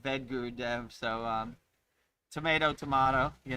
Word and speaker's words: Vedagurudev: A lot of people say veta vet guru dev, right? You know, the a is silent. V guru dev.